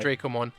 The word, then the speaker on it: Dracomon: I really like, you know, Breakdramon and the Dracomon line, or the Dracmon? Dracomon? It's Dracomon, right? Drakmon's the fucking vampire guy. Dracomon. Yeah, I always get it confused.